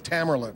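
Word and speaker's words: Tamerlan: 26 years old uh tomon is that how he pronounced his name Tam Tamarin that that so you knew him as Tamarin yes and and did you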